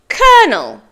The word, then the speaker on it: Colonel: schedule schedule your turn fantastic word for Colonel colel your turn well done word five February February